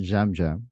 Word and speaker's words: Yam Yam: Okay, I just I just got a thought because his name is pronounced Jam Jam, but Yeah. it's spelled with a yam, and he's in the purple tribe.